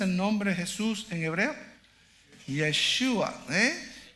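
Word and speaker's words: ישוע: Yeshua.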